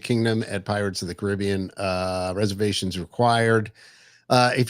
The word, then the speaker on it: Caribbean: I mean, so anyway, Beacon Barrel, uh, now open in the Magic Kingdom at Pirates of the Caribbean.